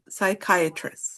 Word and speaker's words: psychiatrist: All of the ones that have that start with the PS, we we don't pronounce the P, right? So it's psych psychiatrist.